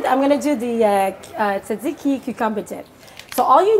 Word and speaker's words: tzatziki: so I'm gonna do I'm gonna do the tzatziki you competent so all you need is some